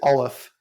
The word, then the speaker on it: Aleph: So I like to pronounce it Aleph because I like to say it's all of us together.